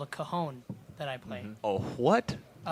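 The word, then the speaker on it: Cajón: And how do you pronounce it? Cajon.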